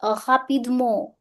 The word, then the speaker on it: rapidement: Devoirs rapidement. Sound of en is on.